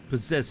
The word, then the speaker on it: possessed: I mean, the double S in in possessed is in a plural. It's just possession. You've been possessed. Possessed by possession. By possessions. Yeah. Possessions. It's a Z. Yeah. I mean, you pronounce it as a Z sound.